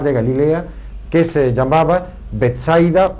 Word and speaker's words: Betsaida: orillas del mar de Galilea, que se llamaba Betsaida o Betseda, como se la pronuncia.